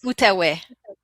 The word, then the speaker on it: Outaouais: Can you spell it? Because I don't. Yeah, it's Outauais. Oh, okay. Sorry, that's Outaouais.